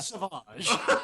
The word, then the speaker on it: Savage: name is Randall Savage although he pronounces it saage R Savage uh yeah